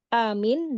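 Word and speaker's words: آمين: Para ulama berkata yang paling sahih amin dengan mad dan meringankan mim. Iya. Jadi amin gitu. A-nya panjang, mimnya enggak pakai tasdid. Jadi amin gitu. Oh. Dan yang kedua dipendekkan. Iya. Jadi a-nya pendek. Amin. Oh. Amin. Jadi an-nya pendek bukan bilmaz, tapi bilqasr. Jadi bacanya amin gitu ya. Dan keduanya masyhur.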